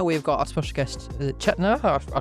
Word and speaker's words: Chetna: Along with Hannah, we've got our special guest, Chetner. I pronounced your name.